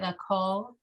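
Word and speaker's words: לכל: This is Oh, like a K, a hard C, right? Lakol.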